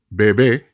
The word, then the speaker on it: bebé: They must be observed in order to ensure proper pronunciation because they can literally change the meaning of words. Let's look at two examples. Bebe, bebé, papa, papá.